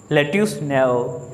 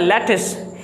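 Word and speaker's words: lettuce: उसके बाद number 15 लेट्यूस, इसको पढ़ा जाता है लेटिस। इसकी स्पेलिंग लेट्यूस की ऐसे वैसे जब हम देख रहे हैं तो इसकी प्रोनाउंसिएशन ऐसे लगे इसकी लेट्यूस होगा, ये लेट्यूस नहीं होता, लेटिस।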